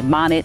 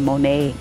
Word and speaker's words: Monet: You may hear somebody say Monet instead of Monet, or Renoir instead of Renoir.